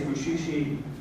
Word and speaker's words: Mushishi: So next we're going to show SCXCR's next video, which is Mushishi Abridged. It's actually pronounced a little differently. It's Mushishi Abridged.